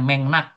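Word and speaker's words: 맥락: Tulisannya megrag ya bacanya mengnak.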